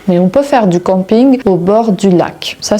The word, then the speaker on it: camping: Encore une fois, camping vient de l'anglais donc je prononce camping.